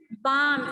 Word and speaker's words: balm: Balm, L is silent.